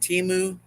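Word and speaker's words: Temu: have room for it it's pronounced timu okay right K it's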